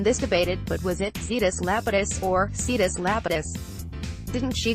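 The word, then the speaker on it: Zetus Lapidus: debated but was it Cetus Lapidus for Cetus Lapidus didn't she go see this Lapidus it's a Z but she's pronouncing it with an S see this Lapidus right yeah when I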